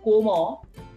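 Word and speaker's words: comment: which is called liazone here t is actually silent individually if i pronounce coma c-o-m-m-e-n-t since e-n is a combination after that combination the single alphabet t will not be pronounced so the pronunciation ultimate pronunciation is coma but when i am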